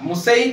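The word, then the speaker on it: Monsieur: আচ্ছা মুসাই কেন বললাম ওয়ানসাইরও বলে বাট এনটা এনটা একচুয়ালি সাইলেন্ট হ্যা তো মুসাই গাসতে দেলাপার্ট এম বারন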